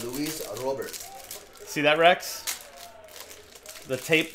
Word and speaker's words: Luis Robert: Bueno, en Cuba siempre se pronuncia Luis Robert. Luis Robert Moirán. Sí, Luis Robert. Luis Robert. En los eventos nacionales que he ido casi siempre me dicen Robert.